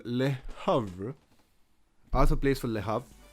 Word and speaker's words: Le Havre: In France, we would say it as Le Havre. He plays for a team called Le Havre.